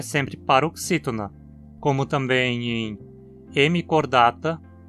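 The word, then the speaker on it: Hemichordata: A longo e, como ele cai na penúltima sílaba, a palavra é sempre paroxítona, como também em hemicordata, lofoforata e equinodermata?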